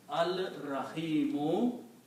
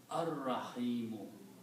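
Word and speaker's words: الرحيم: Similarly, when you put al, it becomes al-Rahimu. But again, the same thing will happen. You pronounce ar-Rahimu.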